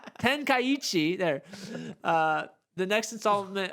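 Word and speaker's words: Tenkaichi: buai Tenchi oh still said it wrong ten kichi there uh the next installment of budai ten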